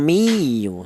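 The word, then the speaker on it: أُمِّيُّونَ: Jadi cara bacanya ditekan miu ya um miu seperti itu.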